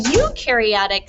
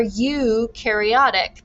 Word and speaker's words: eukaryotic: means nucleus true nucleus you can remember that by you rhymes with true and new or i like to think that you are eukaryotic because you have eukaryotic